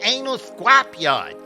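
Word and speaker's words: Ynal Scrapyard: It's spelled Y-N-A-L Scrapyard, but when you pronounce it, it sounds like Anal Scrapyard.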